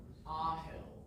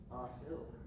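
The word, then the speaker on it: Aahil: Ahill. Ahill. Could you spell that one more time for me? A-A-H-I-L. Ahill.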